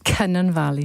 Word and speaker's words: Cynon Valley: Beth Winter, Labour MP for, you pronounce it because I'm bad at it. Cynon Valley.